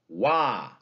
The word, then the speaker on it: Washington: We've got three syllables there. First syllable stressed. Washington. Washington. Dactyl.